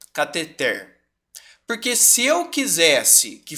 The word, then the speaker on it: cateter: Oi ó por exemplo a palavra que gera mais polêmica né cateter tá porque que a pronúncia dela é assim catheter porque se eu quisesse